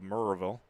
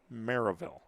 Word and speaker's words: Maryville: pronunciation of his hometown he said you know you can say maryville some people call it all the way with the full draw of merville but he pronounced it maryville kind of a kind of a way a little bit in the middle there and so split the difference for maryville and he's behind 3-1